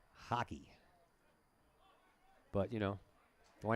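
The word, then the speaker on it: Haake: think he likes hockey I bet it's spelled differently h a a k e hockey but you know why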